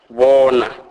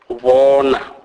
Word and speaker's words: bona: O is pronounced as O, as in a word or. Never as in hope, as often mistakenly pronounced by white. Examples: bona, bona, which means see.